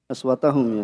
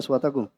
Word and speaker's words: أصواتكم: Tadi apa? Innalladzina yaghudduna aswatahum, ya. Bacanya aswatakum.